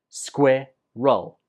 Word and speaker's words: squirrel: And the 2nd syllable is just roll. Squirrel.